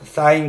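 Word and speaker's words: sin: 때는 말이죠 쓸 때는요 사인 같은 경우는요요 요것만 써요 si n 너희 죄를 알라신이 아니라 이거 그냥 사인이라고 읽고 코사인 이것도 세 자만 써요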